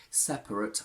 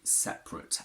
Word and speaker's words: separate: keep this schwa sound personally i would never pronounce that first schwa i would never say separate i say separate and that's what most people actually say so whilst it's completely